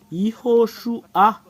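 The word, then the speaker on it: יההוֹשֻׁע: En fait, il y a une séparation. Iho, Shu. Il y a une dernière séparation. Et c'est A qui est à la fin. Iho, Shu, A. Voilà le fait de prononcer ce terme.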